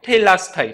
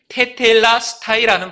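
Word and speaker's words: τετέλεσται: 이 다 이루었다라는 헬라어 단어는요, 테텔라스타이, 제가 다시 한번 발음할게요. 테텔라스타이라는 발음을 가지고 있습니다.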